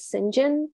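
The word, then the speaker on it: St John: know that there's a version in which people pronouncing john as sinjin yes i hated that when i was reading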